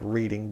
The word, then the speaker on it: Reading: book long lost friend was published first in Reading Pennsylvania it's not reading it's spelled like reading but it's pronounced reading if you're from the